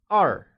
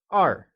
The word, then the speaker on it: 二: 2 is 二 and is pronounced with a falling tone. It is said as 二.